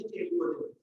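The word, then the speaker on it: chalcogen: Oxygen family जो होती है ऑक्सीजन को बोलते हैं चेलकोजेंस या कहीं पे केलकोजन बोलने का डिफरेंस होता है, केलकोजन या चेलकोजन स्पेलिंग वही होती है केलकोजन, क्योंकि ये ओर्स का फॉर्मेशन करते हैं ज्यादातर ऑक्साइड्स बनते हैं।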